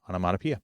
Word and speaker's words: onomatopoeia: to think about it because the pronunciation, at least to me personally, doesn't exactly look like the word, and even more so when you look at the official pronunciation guide. Okay. So I just have to sort of not think about the letters and just say onomatopoeia.